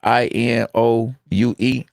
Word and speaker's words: Inoue: The Anik, His name is spelled I-N. Yeah, I know. I see him a whole lot. Inoue.